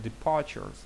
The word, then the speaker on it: departures: Далі departures. Departures. Departures. Departures. Departures. Departures. Departures. Тобто наголос тут на другий склад пане.